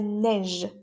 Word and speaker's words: neige: La neige. La neige. Cuidado con la pronunciación de esta j, que es como si fuera una ch en francés, sh, pero la hacemos sonora.